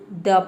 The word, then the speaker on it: the: Letter में, तो वहाँ पे THE को हम द पढ़ेंगे।